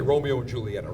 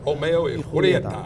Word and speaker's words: Romeo y Julieta: Can't say Romeo and Julieta. Romeo y Julieta. Perfect pronunciation. Gotta have it right.